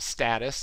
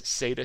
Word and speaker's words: Satus: just because it's not status and it's not status it's s-a-t-u-s sata stock dogs so uh